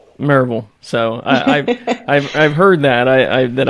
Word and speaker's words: Maryville: I liked when you said you can tell that you're local to the area because you didn't say Maryville. It was Maryville.